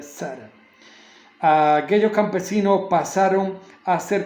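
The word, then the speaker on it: Țara: Zara, Tara es una T, pero con un apóstrofe se pronuncia Zara.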